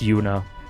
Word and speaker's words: Juna: I keep saying Yuna cuz there's a character in Trails who is spelled J U N A without the H who's pronounced Yuna.